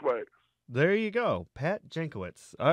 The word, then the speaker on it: Jankiewicz: to ever show me that kindness it's pat jancowitz but I've heard of mispronounced every which way there you go Pat jankowitz all right yeah I wouldn't have guessed that